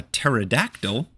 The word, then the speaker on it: pterodactyl: Why can't you hear a pterodactyl go to the bathroom? Because the P is silent.